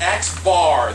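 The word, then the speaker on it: x̄: things first this is this is x bar that's how you say it and that's going to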